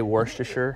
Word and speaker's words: Worcestershire: That's the right way to say Worcestershire.